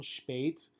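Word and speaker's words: shpejt: correct in Albanian however a lot of Americans are gonna struggle with that pronunciation sh bait which means quickly foolish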